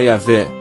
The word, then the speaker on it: Yahvé: O tetragrama sagrado, que na pronúncia original era Yahvé, é formado por 4 consoantes e significa: eu sou o que sou ou eu serei o que serei.